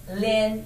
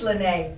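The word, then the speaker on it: Lynée: you to my itunes please don't call her lynn even though her because your name is spelled the same as my middle name lynn but everybody wants to say lenay but she's lynnae i'm lynn do not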